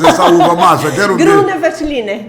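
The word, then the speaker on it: Grüner Veltliner: Eu quero ver tu pronunciares essa uva, Márcia. Gruner Veltliner. Gruner Veltliner.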